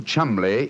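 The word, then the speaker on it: Cholmondeley: Being an American, he had no reason to know that the name Chumli is in no way pronounced the way it is spelled.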